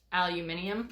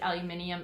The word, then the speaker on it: aluminium: the one that contains aluminum yes aluminium it's another they actually pronounced it aluminium in australia yes really yep okay